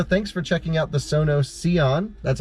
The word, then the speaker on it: Sono Sion: spec reviews video thanks for checking out the sono seon that's how i say it right exactly and